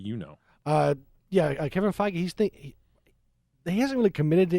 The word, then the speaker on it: Feige: interview with uh Kevin his last name is pronounced feige uh he's been talking about another Captain apparently